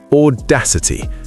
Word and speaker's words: audacity: It's audacity. The stress is on the second syllable. Audacity.